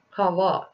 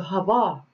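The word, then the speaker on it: חַוָּה: Eve or in Hebrew eeve is written as Hawa okay but like c-h-a-v-b-a-h but pronounced as Hawa which means life and is a derivative from Life Giver so Hava or Eve is was named as such for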